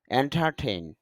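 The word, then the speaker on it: entertain: এন্টার প্রবেশ করা এন্টারটেন যদি এন্টারটেইন বলি তবে আইপি এতে খেয়াল করা যাচ্ছে র সাউন্ডটা নেই এজন্য র উচ্চারণ না করে আমরা বলব এন্টারটেইন মনোরঞ্জন করা এন্টারটেইনিং আনন্দদায়ক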